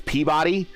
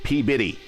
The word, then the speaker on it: Peabody: The other town in Massachusetts that gets me is Peabody. No. Peabody. But it's spelled Peabody. Like I don't know where Biddy becomes body or body becomes Biddy, but there it is.